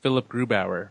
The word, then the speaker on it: Philipp Grubauer: Yeah, he said, but like, because I'm trying to think of like Philip Grubauer. How do you say that guy's name? Oh, good old Phil. You say it like Philip Grubauer.